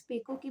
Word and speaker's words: paycock: और इसके बरक्स पेको की बात की जाए, वैसे तो इंग्लिश प्रोनाउंसिएशन जो पेको की है वो पीकूक होती है, यानी कि जो बज़ाहिर